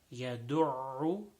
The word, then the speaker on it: يدع: Third word, يدع, there is dal and then a ayn after that.